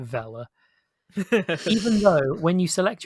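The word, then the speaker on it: Vele: gonna say fellow twins it's spelt v-e-l-e but i have i i get the impression they want you to pronounce it vela even though when you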